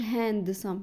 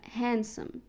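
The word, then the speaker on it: handsome: هي وسيم هانسم ما بقولش هاندسم لا هانسم هانسم ساندوتش ايوه الكلمه اللي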